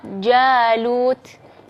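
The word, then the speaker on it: جالوت: Atau kalimat jalut. Nah, itu di situ ada alifnya tipis, ya, karena huruf sebelumnya adalah huruf jim, dan jim adalah salah satu termasuk huruf-huruf yang tipis.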